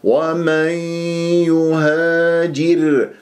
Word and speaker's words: ومن يهاجر: ومن هكذا، ومن يهاجر هكذا لازم تنطقها بغنة.